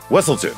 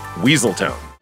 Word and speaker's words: Weselton: duke so frequently insists pronounced wesselton not weaseltown your majesty the duke